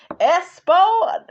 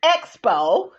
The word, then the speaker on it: expo: Okay, mispronouncing your damn words. Espo. Now my ass been saying Espo. Okay, it's Expo.